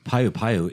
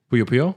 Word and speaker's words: Puyo Puyo: Payu Payu is in the game as a mini game though. Puyo Puyo? Puyo. I never pronounce it.